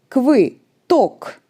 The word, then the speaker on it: квиток: It sounds like I in the word it. It is very close to I, but we pronounce this sound with our tongue moved back and with the tension at the back of our mouth. So you move your tongue a little bit back and say like I, but with your tongue back.